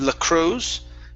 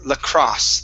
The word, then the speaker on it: lacrosse: good um next is lacrosse instead of the crows it's lacrosse the cross teams la